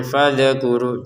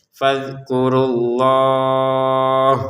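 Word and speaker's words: فَاذْكُرُوا اللَّهَ: Kalau dzal jangan fadkuru jangan karena dzal bukan baju di toko. Fadkurullah di sini runya awalnya panjang tapi kan ada tasydid menjadi pendek. Fadzkurullah.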